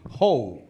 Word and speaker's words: Hou: I said, it's a farming hoe, Santa Claus hoe, or Eddie Murphy hoe.